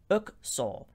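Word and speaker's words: الأقصر: the kings and queens the name luxor is actually pronounced as bucksaw in arabic literally meaning palaces technically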